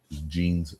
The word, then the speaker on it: Jeans: I don't know how to say the last name in French but jeans rele jeans he was British sure certainly okay